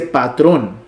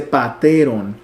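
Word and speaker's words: πατέρων: la epsilon ahí porque no se dice patrón se dice pateron luego patri a este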